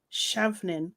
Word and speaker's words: Chauvin: He is calling for Trump to pardon Derek Chauvin.